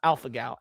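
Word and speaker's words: alpha-gal: I don't know if this is how you spell it, but yeah, it it's pronounced Alpha Gal.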